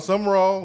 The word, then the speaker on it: Sumrall: Did I pronounce his last name correctly? Is that how you say his last name? Sumrall? Yep, John Sumrall.